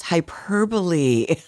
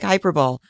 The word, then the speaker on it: hyperbole: an adult I'm like oh that's hyperbole oh no idea it looks like hyperball and there are several